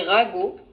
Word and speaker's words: ragot: Alors, ragot. Ragots, Oui, tu prononces pas le T à la fin.